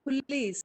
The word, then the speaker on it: police: Don't say o, but a. Sound schwa.